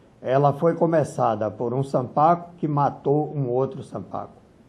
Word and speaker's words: Sanpaku: A pronúncia correta é Sampaco. A palavra é paroxítona. Algumas pessoas dizem Sampaku. Não é. Ela é Sampaco.